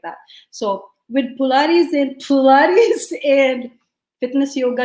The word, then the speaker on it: pilates: how you say it it's not pilates i know korea you said earlier that pilates so the way you say this is polaris that's pilates yeah like that so with pilates in pilates and fitness